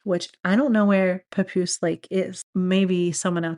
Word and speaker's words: Papoose: I don't know where Papoose Lake is. Maybe someone out there does. I just think the name's kind of funny because it rhymes with caboose, you know, and I always thought caboose was a funny word.